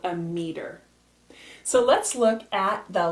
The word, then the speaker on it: meter: Both ways are pronounced meter, and they're both correct, with the E-R or spelled with an R-E.